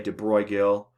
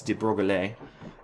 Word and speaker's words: de Broglie: I pronounced that right his last name is French some people say de Bruyne Gil but I think it's de Broglie um came up with